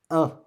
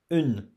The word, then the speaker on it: un: Then we have un. Un. Okay? Don't pronounce une. Okay? We don't pronounce une because N here, it's a silent letter. We don't pronounce it. The sound of this is un.